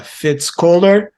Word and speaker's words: Fitz Koehler: guest today is uh fitzcler I hope I'm pronouncing your name right you are you are thanks so uh she's uh